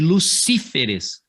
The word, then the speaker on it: Lucíferes: O plural desses camaradas aqui, ó, assim como espécimen. Então vai ficar especímenes, Jupíteres, e lucíferes, para que mantenha a ideia de proparoxítona.